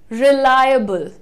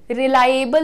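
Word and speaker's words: reliable: match कर रहा है रिलायबल रिलायबल रिलाएबल नहीं रिलाएबल नहीं होता है रिलाएबल कैसे बोलना है रिलाई लाय रिलायबल रिलायबल सो यहां पर ला के बाद हल्का सा अ का साउंड है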